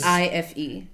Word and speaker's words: bife: Like, so it's like instead of BEF, It's which is BIFE.